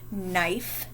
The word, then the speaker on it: knife: with a k okay we have knife knee and knock do you hear a k in any of those words i don't what